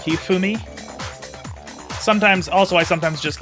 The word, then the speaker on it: Hifumi: Hifumi or sometimes I try pronouncing things a little well cuz it's uh it's not like a hard sound like in English. It's more like Hifumi.